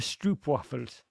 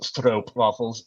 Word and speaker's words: stroopwafels: Did it feel like someone had just stolen your stroopwafels? Not to Derek Ray you, Raj, but it's pronounced Stroop waffles.